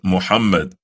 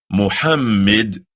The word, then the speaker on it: Muhammad: His name is not pronounced Muhammad, but rather it is Muhammad. Muhammad. Can you say that? Try it. Muhammad. Not Muhammad. Nor is it pronounced Muhammad. Muhammad. But rather Muhammad. Do you hear the emphasis? Muhammad, not Muhammad or Muhammad.